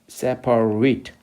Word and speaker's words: separate: 그다음에 형용사로서 분리된이라는 단어로 쓸 때 separate, 그래서 separate 이렇게 발음해야 되고 disconnected, unrelated, attach의 반대로 unattached, 또 attach 반대가 detach죠.